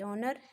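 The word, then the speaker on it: honour: Sound आता है honest, ऑनर को प्रोनाउंस करने तो ओ साउंड आता है, तो ये दोनों क्या हो गए, सॉरी, ओ साउंड क्या हो गया, वाउल साउंड हो गया।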